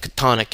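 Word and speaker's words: chthonic: of the Old Testament the pronunciation of katonic is katonic which explains lovecraft's famous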